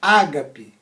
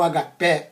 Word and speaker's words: ágape: amam com o amor Ágape ou agapé ou Ágape ou agape né como você queira pronunciar que é uma amor